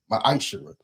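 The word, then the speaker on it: מעשר: Means 10th in Hebrew and is pronounced ma'ashera.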